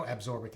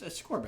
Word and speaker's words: ascorbic: Maybe there's no absorbic acid. Maybe it's abscorbic. Okay. I just always mispronounced it. It's ascorbic.